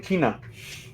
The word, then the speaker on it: Quina: from fucking FF9, and Quina's like, not what I'm called! I never knew how to pronounce the name. Never. It's Quina. I kept saying Kina. That also works.